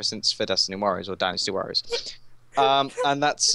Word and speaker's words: Dynasty Warriors: don't know why it's when I was younger I couldn't pronounce Dynasty so I just said Destiny so I've always kept